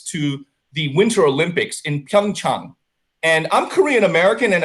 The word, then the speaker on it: Pyeongchang: to ignore it and they went with pyeongchang chang instead of pyeongchang what an insult to